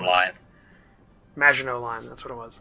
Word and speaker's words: Maginot: Mignon line. Maginot line, that's what it was.